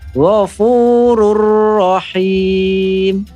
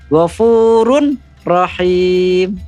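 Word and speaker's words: غَفُورٌ رَحِيمٌ: Tulisannya kalimatnya ghafurun rahim, tapi cara membacanya disempurnakan. Jadi ghafurur rahim, ghafurur rahim. Nah, seperti itu ya. Jadi rohnya bukan ghafurun rahim. Itu salah ya.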